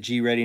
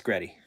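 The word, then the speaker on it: GReddy: Isn't it G-Ready, not Gretty? No, it's Gretty.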